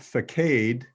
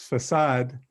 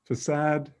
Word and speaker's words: facade: thought i'd just clarify what i think the pronunciation is canadian english so somebody said faked but in french it's facade and in english it's i say facade fasad facade it comes from french and originally from